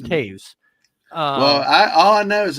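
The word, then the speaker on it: Toews: It's pronounced Taves.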